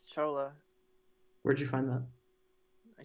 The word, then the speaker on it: Chola: the only civ I'm going to have trouble pronouncing. Yeah, it's Chola.